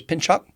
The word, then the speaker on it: pencak: it's with C is a CH so it's pinch cot okay and um there's a lot of I've